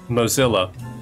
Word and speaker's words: Mozilla: where Mosilla Mozilla Mozzilla, how the hell do you pronounce that? Um, is headquartered because I finally switched to Mozilla Firefox. Mozilla Mozilla Mozilla. Mosilla. Okay, my captioning software gets it right when I say Mosilla. So, I guess it's Mosilla.